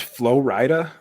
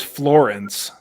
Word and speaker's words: Flo Rida: Sorry, it's pronounced Flo Rida? yes. I thought it was Florence.